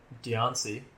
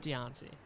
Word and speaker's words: Diancie: Up next is I can't pronounce that. Diancie. Diancie? Yep. Diancie.